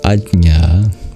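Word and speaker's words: आज्ञा: this is actually an an incorrect transliteration it's pronounced AA difficult to pronounce but it means knowledge it's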